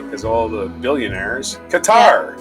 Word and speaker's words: Qatar: Qatar, or Qatar, as some people call it. Qatar is how they say it.